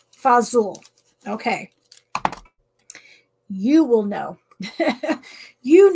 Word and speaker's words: fagioli: it to Jet it thanks so much Janet fazool fazool okay you will know you know how to pronounce it um yeah it's amazing but if